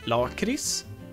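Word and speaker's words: lakrits: which means licorice and I say Lord crease which is the correct pronunciation because I say so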